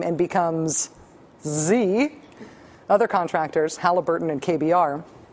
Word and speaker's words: Xe: Blackwater, as of today, would prefer to be called Z. Z. Better yet, it is pronounced Z, but it's spelled XE.